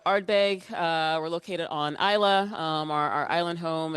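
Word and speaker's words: Islay: Um so, you know, Arbbeg uh we're located on Isa um our our island home in in the Hebdian Islands. Um and some people pronounce it all sorts of weird ways, but it's pronounced Isa.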